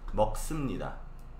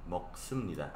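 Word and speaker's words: 먹습니다: Se escribe como subnida, pero en la realidad pronuncia sumnida, así. Moksumnida. Moksumnida, así. ¿Sí?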